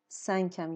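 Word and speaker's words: cinq: ان کامل تلفظ میشه و کیو کیو که با او میاد معمولا اینجا او هم نمیاد ولی همون صدای ک رو میده و با اینکه کنسو هست تلفظ هم میشه سنگ یعنی پنج خب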